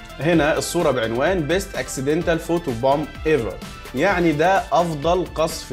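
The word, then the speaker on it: photobomb: ومن العنوان ده هنعرف فوتو بام، علشان ده عنوان حلقتنا النهارده، البي اللي في الاخر مش بتتنطق لانها جايه بعد حرف الام في اخر الكلمه، زي في كلمه كوم اللي هي معناها مشت، وزي كلايم يتسلق.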